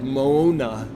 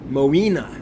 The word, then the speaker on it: Moina: say that I know I always say like Mona but I know that's wrong moina moina cultures they're a bit